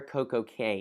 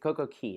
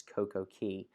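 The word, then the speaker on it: CocoCay: Basically right underneath of the number 3 is where Coco Cay is located. Coco Key, excuse me. I know somebody's about to correct me and tell me that I'm saying it wrong and that it's Coco Key.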